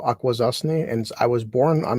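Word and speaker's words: Akwesasne: it's called It's New York State it's called aquaza and I was born on an Indian Reservation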